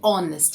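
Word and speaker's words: honest: ये हॉनेस्ट नहीं है, ये ऑनेस्ट है, ऑन, ऑनेस्ट, हेच यहाँ पे साइलेंट है, ऑनेस्ट, ठीक है।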